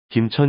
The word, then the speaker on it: 김천: 비롯된 지명 입니다 이번에는 김천 입니다 경상북도 김천시의 김천은 세금 짤을 사용합니다 세금 자는 김으로 발음 하기도 하지요 김천 도금으로 하지 않고 김 으로 발음하는 경우입니다 세금 자는 새나 금속을